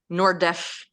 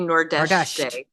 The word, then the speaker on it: Nordeste: So next you head to Nordeste. Is that how you say it? Yes, which I believe if you live in the Azores, you say something like Nordeste or maybe Nordeste.